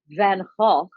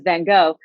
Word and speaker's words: Van Gogh: a kind of, and I'm going to say his name properly pronounced, you all, is Van Gogh, but we know him as Van Gogh.